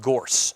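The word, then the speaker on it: Gource: So what I wound up doing instead is finding a tool called Gorse, spelled like source with a G instead of an S.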